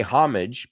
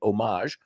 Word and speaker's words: homage: You want me to pronounce it the American way or the French way? Paying homage. We say homage, pero hay gente como, I want to sound French, say homage.